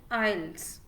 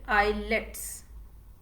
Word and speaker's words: IELTS: s first of all we don't call it i let's okay so the pronunciation of this particular test first of all is not i let's it's ielts okay so i e